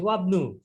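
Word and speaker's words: وابنُ: যে দেখুন এখানে এই হামজা এটা উচ্চারণ আমরা করবো না, একসাথে আমরা যোগ করে দিচ্ছি, ওয়াবনু, ওয়াবনু ইয়াসিরু তাজিরিন, হ্যাঁ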